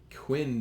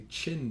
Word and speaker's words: Qin: feel like even worse you don't pronounce that the quin dynasty or kin dynasty you know like it would look like that's what we'd sounded out in our minds but that is the qin dynasty it really should be